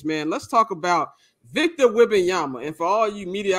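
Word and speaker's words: Wembanyama: room with this man let's talk about Victor whing Yama and for all you media Outlets who gonna act like you don't to pronounce a name is wh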